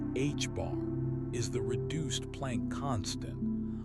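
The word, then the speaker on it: ħ: H stroke, pronounced H bar, is the reduced plank constant, a tiny number that governs the scale of quantum effects.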